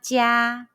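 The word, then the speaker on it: 家: When you see the English letter IA in Pinyin, how would you pronounce it? The answer is ya.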